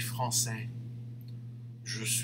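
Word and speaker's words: français: will be you see for mark he doesn't say the s but madame will have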